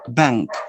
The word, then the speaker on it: bank: So the N becomes velar too, and you produce ink, ink, bank, bank, bank.